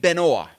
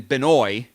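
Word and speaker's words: Benoît: that the distinction SM it wouldn't be Benoit because the way you're spelling and it's more like Benoa so I think it's like been OA rather than binoy it's been OA so I think that's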